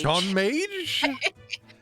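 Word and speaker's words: ちょんまげ: Chon Mage? I will Google it. Chon Mage. Chonmage pronunciation.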